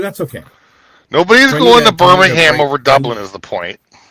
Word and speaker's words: Birmingham: It's Birmingham, right?